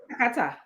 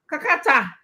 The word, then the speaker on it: Kakata: How you pronounce it? Kakata.